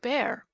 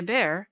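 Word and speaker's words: Bhaer: now don't laugh at his horrid name it isn't pronounced either bear or beer as people will say it but some something between the two as only Germans can give it I'm glad you both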